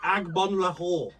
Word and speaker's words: Agbonlahor: Agbonlahor.